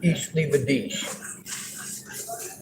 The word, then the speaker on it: Ich liebe dich: Although I pronounce it horribly, it's Ich liebe dich.